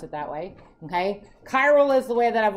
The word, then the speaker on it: chiral: okay so I've heard some people call it Charl that's fine if you want to pronounce it that way okay chiral is the way that I've always heard it